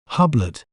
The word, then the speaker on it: Hublot: In British accent, we may pronounce it as Hublot, Hublot, Hub, Lot, Hublot.